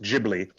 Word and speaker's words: Ghibli: It's pronounced Ghibli.